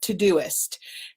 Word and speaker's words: Todoist: organized tip today is todoist and it's spelled just like it sounds tod o ist to-do list and it